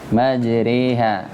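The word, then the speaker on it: مجراها: Jadi imalah ya, memiringkan harokat fathah ke harokat kasrah. Majriha. Tapi bukan kasrah, ntar antum bacanya majriha. Ya, maksudnya agak jadi bunyinya majriha. Majro jadi majriha.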